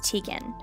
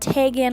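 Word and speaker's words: Teagan: I get Tegan a lot most of the time, which is kind of funny because it's spelled T-E-A, like a cup of tea.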